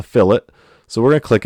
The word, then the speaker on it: fillet: It looks like it's spelled fillet, like a fillet of fish, but it's a fillet.